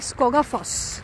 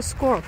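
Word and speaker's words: Skógafoss: এই ওয়াটারফলসটার কাছে যাচ্ছি এটার স্পেলিং করলে নামটা হয় স্কগাফস কিন্তু ওরা উচ্চারণ করছে স্কোয়াফ বলে এটা দেখতে যাচ্ছি আর এর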